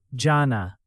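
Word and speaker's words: जाना: Ana has that long a sound. Ana. Jana too. Jana. Don't crush it into a short sound. Stretch it a bit.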